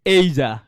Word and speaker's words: Asia: You'll find they are pronouncing it's Asia.